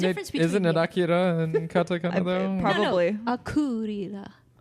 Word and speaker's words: Akira: And I have to say that with that pronunciation, so I don't happen to say Akira. Don't you dare say Akira. It's not. It's Akira.